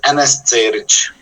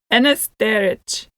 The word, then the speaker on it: Enes Cerić: Let me hear it in with you pronouncing your whole name. It's Enes Cerić. Enes Cerić.